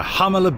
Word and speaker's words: Jalama: Today we're going up to uh Hamala Beach. It's spelled Jamala with a J.